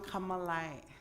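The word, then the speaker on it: K'emk'emeláy: So, Kamalai is how you pronounce it, the place of many maple trees.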